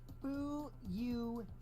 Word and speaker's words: Fuyuhiko: what are you doing my first name is pronounced who you he did he just